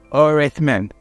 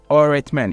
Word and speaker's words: öğretmen: So you're not going to pronounce the G. There are other words which we call, let's say, öğretmen. öğretmen.